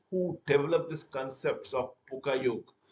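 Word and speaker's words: Poka-yoke: Pokayok, developed by Japanese manufacturing engineer named Shingio Shingo, who developed this concepts of Pokayok, pronounced as Pokayok, meaning avoid.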